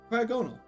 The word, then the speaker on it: Cryogonal: It's pronounced Cryog and no, Cryogonal. Cryogonal.